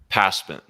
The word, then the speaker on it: Pasman: Pasman.